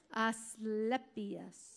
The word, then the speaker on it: Asclepius: Say his name again. And Asclepius. Asclepius. Well, algo así como epilepsy.